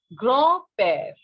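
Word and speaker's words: grand-père: pronunciation will not be grand pair it will it is in english in french it will be grow pear d will not be pronounced what it will be grah pear means grand father very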